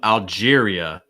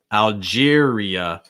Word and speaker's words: Algeria: things um algeria algeria it's like algier that's your first half and then the second part is going to have two parts algeria algeria algeria also making sure that at the end that sound is really clear it's not er or like ah it's more uh uh algeria okay uh my lange